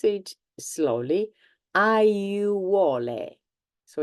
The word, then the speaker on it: aiuole: This word, you have all the vowels and you need to pronounce all of them. I'll pronounce it slowly. Aiuole.